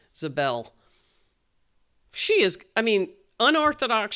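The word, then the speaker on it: Ziebell: strong now is um Alli Zebel or Zabel. They said Zabel on the uh I thought that might be the way it's pronounced. Zabel, she is I mean unorthodox shot from the side, but it goes in.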